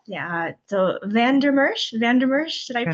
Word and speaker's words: Van Der Mersch: yeah, so Van Der Mersch, Van Der Mersch, did I And pronounce that immersive.